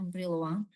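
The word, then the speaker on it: Brillouin: Ditulisnya briloin dibacanya briloang ya. Karena ini orang ini ya orang Perancis ya.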